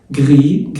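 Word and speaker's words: gris: مثال: un بنطلون جري اللي هو رمادي، جري لسه ما بتنطقش، هناخد ده كله في الالوان دلوقتي.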